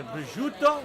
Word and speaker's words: prosciutto: So it's got the prosciutto. That's how you pronounce it.